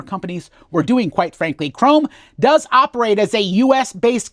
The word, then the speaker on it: CROM: CROM. No, it's pronounced CROM. Shiny and chrome.